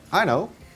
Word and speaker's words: Aino: This is my Aino, A-I-N-O, but you say it like I know.